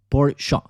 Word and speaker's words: Porsche: La pronunciación correcta de Porsche es Porsche. Sí, porque esa E sí se pronuncia en alemán.